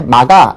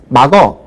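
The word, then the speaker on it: 막아: 때 당연히 어지 그다음에 마가 이렇게 발음을 해야 되는데 요즘은 마거 이렇게 발음하는 경우들이 상당히 많아요 그래서 아로 발음해야 될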